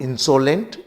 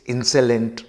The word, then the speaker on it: insolent: एल ई एन टी so because of this O some of the students pronounce this word as इनसोलेंट इट्स नॉट इनसोलेंट इट्स इंसेंट remember at से in several words this O is pronounced as ए in international you know